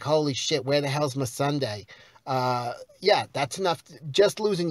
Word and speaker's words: Missandei: She lost her fucking hairdresser, Missandei, or Missandra, whatever. They pronounce it Missandei on the show.